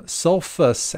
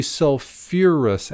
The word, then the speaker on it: sulfurous: us ous now that we might expect it to become sulfus acid but it's actually sulfurous acid for sulfur and phosphorus containing acids they throw that extra little syllable in there i guess they